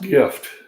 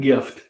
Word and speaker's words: GIF: Oh, I got, it's pronounced gift. GIF, not gift. There's no T.